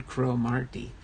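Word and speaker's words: Cromartie: Okay, Warren Cromarty. Thanks for that pronunciation.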